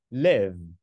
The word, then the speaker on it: live: sống nó đọc là live nói một cách nôm Na nó là sự kết hợp giữa chữ y và chữ Ê hay nói cách khác